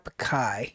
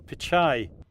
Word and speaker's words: Pichai: So our very, very first break time topic is Google CEO Sundar Pichai.